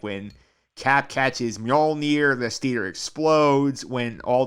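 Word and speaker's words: Mjölnir: Mjolnir. Mjolnir? Mjolnir. I'll never get it. I don't. Yeah. It's like M and then Yol, like Yol, except for like Yol, except without the U.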